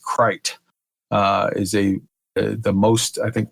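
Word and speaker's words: krait: And the Crate is actually a very famous snake in India. Big deal. I think it's actually supposed to be pronounced Krite.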